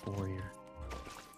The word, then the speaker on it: foyer: Yeah, the foyer. Foyer. It's pronounced forer.